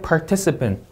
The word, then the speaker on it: participant: participant 이 음절 강세.